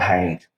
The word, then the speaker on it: haint: The old pronunciation of the evil spirit was called haint. Mm-hmm. And so it's sort of a corruption of the word haunt.